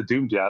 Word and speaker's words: dumediat: stranger on the internet, Dumediat to their face. Right. So I changed the pronunciation to Dumediat. I was like, you can pronounce it that way.